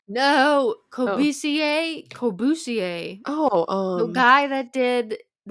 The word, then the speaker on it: Corbusier: Lake Cubas. Fudge. It's like cubism, right? No, Oh, Corbusier.